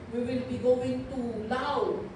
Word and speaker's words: Laos: And now o sabi ni Bishop Evelyn kahapon we will be going to law. Laos ang spelling pero law ang ang pronunciation.